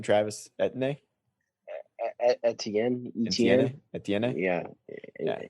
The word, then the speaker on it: Etienne: up between Najee Harris and how do you pronounce his name? Travis Etienne? Etienne. Yeah. Etienne.